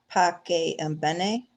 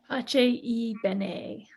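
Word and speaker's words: Pace e Bene: And I'm not sure how to pronounce the organization. Is it Pace and Bene? Pace y Bene.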